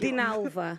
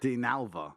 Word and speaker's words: Dinalva: Could you say my name, please? I can't pronounce it. Dinalva. Dinalva. That's it. Dinalva.